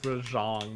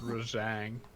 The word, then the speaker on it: Rajang: It's Rajang, not Rajang.